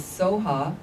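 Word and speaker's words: svaha: and it ends with soha also looks like okay the tibetans don't have a b pronunciation so often it's so hot if you come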